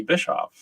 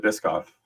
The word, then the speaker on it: Bischof: and that is Bischof. Am I pronouncing that correctly, or is it Bischoff? It's Bischoff. You nailed it.